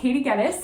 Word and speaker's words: Gettys: Hello, my name's Gettys. I tell the kids that it rhymes with lettuce, but usually they call